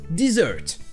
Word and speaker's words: dessert: Ensuite, vous aurez un désert qui se prononce desert et un dessert qui se prononce dessert. Et le verbe déserter se prononce de la même manière qu'un dessert, to desert.